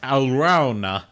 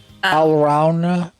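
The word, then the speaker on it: Alraune: It is pronounced Alrauna. Alrauna.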